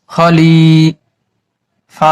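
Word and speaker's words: خليفة: তা বাদ হয়ে গেছে এটার নাম হচ্ছে গোল তা লাস্টে থাকলে হা উচ্চারণ করতে হয় এখন তা বাদ হয়ে গিয়েছে তার দুই জবরও বাদ হয়ে গেছে এখন এই হার উপরে একটা সাকিন বসায় নিতে হবে ফা মিলবে হার সাথে সাথে খলিফা খলিফা হা উচ্চারণ করে ছেড়ে দিতে হবে ফিল আরদি খলিফা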